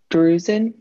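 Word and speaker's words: drusen: waste of the rod and cones is that bruising i might mispronounce that d-r-u-s-e-n yep you you pronounce it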